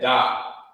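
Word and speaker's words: ד: That's actually you will pronounce that da. You will say da.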